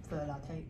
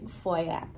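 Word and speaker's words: Feuillatte: Because everybody would have said what? 錯咧點講啊呢個？For latte. 係啦，exactly. 錯咧就會 for latte 啊，係嘛？So what was the real way? It's foyat. Foyat. Foyat.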